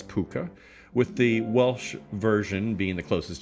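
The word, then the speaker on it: púca: and Cornwall and Britany all variously spelled but generally pronounced more or less puka with the Welsh version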